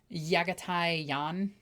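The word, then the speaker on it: Jaghatai Khan: You know, Jagatai Khan's name actually pronounced would be Yagatai Jan, by the way.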